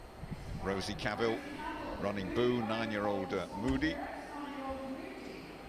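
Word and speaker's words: Mudi: Yes, there is a dog breed called the Moody which is pronounced Moody.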